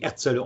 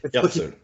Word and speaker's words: Herzl: il promeut Theodor Herzl, oui, Herzl. Nous, on prononce comme ça. On dit, excuse-moi. Herzl.